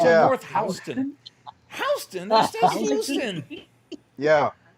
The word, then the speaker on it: Houston: a street on Staten Island in New York it's spelled Houston Street. They call it Houston.